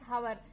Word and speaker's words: hour: So we will pronounce like hour. So here we have to keep H silent.